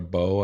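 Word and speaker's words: Boe: So B-O-E? E is silent. Could be like Bowie, instead of Zoe.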